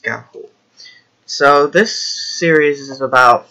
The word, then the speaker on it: Ga'Hoole: be pronounced gone whole day but no as pronounced Ga'Hoole so this series is about 15 books long